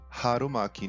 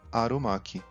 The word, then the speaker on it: Harumaki: português, como em carro, seriam incorretamente pronunciadas ignorando o H. Como a cidade de Hiroshima e não Hiroshima, e o rolinho primavera, o Harumaki, não Arumaki.